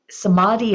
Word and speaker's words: Samadhi: spectrum um rather than a a thing so somadi is spelled s m a DHI and the first